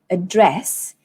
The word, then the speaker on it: address: we have the word address address and advertisement so address contains two syllables address and then dress is the one that you stress and this word advertisement